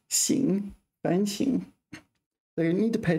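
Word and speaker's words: 反省: is normally pronounced sh such as Shand is pronounced sing fing so you need to pay attention to that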